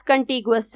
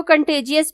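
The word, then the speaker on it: Contiguous: next option हमारे पास कंटी गुस है कुछ लोग इसको कंटे जियस भी पढ़ते हैं लेकिन कंटे जियस के स्पेलिंग डिफरेंट आते हैं जी के बाद आई आता है यू नहीं आता और कंटे जियस का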